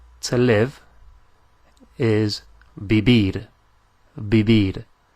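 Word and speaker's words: vivir: live is be be bibid spell v i v i r bibid and you will notice that we're pronouncing the V like a b like a b so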